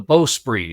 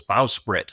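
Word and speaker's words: bowsprit: listening to his narration, and he's using, he's pronouncing the "beau-spri" and I always thought that was "beau-sprit."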